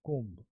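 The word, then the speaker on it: comb: एक कंघी वर्ड है इसमें बी का उच्चारण नहीं करेंगे कुम कुम बी नहीं बोलेंगे कोम कम नहीं कोम वेयर इज माय कोम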